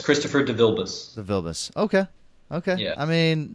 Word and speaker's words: DeVilbiss: So how do you pronounce the full name? DeVilbiss, Christopher DeVilbiss.